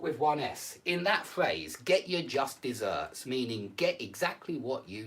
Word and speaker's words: just deserts: just deserts is pronounced get your just deserts it's pronounced by this word but it's spelled like this word and it's the only